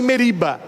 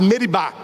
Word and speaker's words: Meribá: É por isso que aquele lugar, Moisés colocou o nome de Massa e Meriba. Nas leituras geralmente a gente lê Massa e Meriba, mas a pronúncia certa é Massá e Meribá.